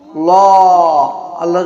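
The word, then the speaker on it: الله: ওয়া রাহমাতুল্লাহি এখানে আল্লাহ শব্দ কি হবে আল্লাহ মুটাবে কারণ আল্লাহ শব্দ লামের আগে কি হয়েছে? রহমাতুল তালাম পেশ। কি হয়েছে? তাহলে জবর আর পেশ হলে লাম আল্লাহর আগে মোটা হবে।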